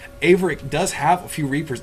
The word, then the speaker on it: Averic: our good friend 13 referred to uh aick as aarick and that is actually the wrong pronunciation and I'm sorry that